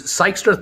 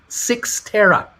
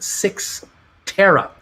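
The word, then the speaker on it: Cyxtera: well we'll see more of that i think hebrews michael uh this this sykester thing is pronounced six terra thank you for helping me out with that i i have no idea six tera is what what this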